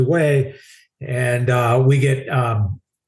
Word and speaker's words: Hue: Of course, we didn't know how to pronounce it, but we're calling it Hugh. Hey, we're going to Hugh. Where the hell's Hugh? I never heard of Hugh. So, heading up to Hugh actually way.